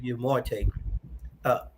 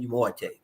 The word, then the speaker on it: Umoette: And then he also made us know how to pronounce his name. Yes. We just couldn't call him Umoette. He let us know his name was Godwin Thompson Umoette. Umoette.